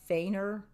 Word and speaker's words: Feigner: sandy who is s i think it's pronounced feigner it's f-e-i-g-n-e-r who is not a